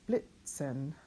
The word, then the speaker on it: Blitzen: Blit, and then if you remember right, a Z is pronounced TS, Blitzen.